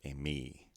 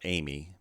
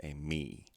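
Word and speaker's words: εἰμί: these together we have a me not amy because of the acute accent it's a me this word begins with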